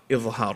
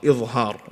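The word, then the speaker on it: إظهار: So, yeah, idhar, okay? With a dha, idhar, okay?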